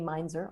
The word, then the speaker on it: Mainzer: uh i'm on twitter so i'm at amy meinzer on twitter that's right my job i'm mispronouncing your last name shame on me it's